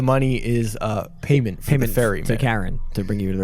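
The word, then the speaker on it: Charon: Is it Karen like K A R N? I assume so. Well like I want to speak to your manager. Spelled like C H A R O N. Oh but I'm not saying char.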